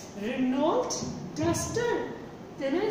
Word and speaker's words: Renault: I just asked him, what is the pronunciation? Then he said, R-E-N-A-U-L-T.